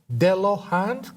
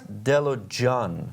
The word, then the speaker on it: Delojan: Babak, is that pronounced, did I pronounce it Delohand Choir? It's Delojan. Delojan Choir.